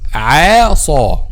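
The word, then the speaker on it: عَصَوْا: Okay, we have to pronounce this word like this. عَصَوْ. Make a letter Ain a light letter and make a letter Sad a heavy letter. Light and then Saw heavy.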